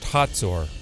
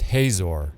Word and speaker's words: Hazor: In Hebrew, the name is pronounced Hatsor, while in English, it's pronounced Hazor.